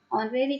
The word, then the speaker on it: honorary: So okay, now next, where H is silent. For example, an honest man, an honorable person, honorary captain.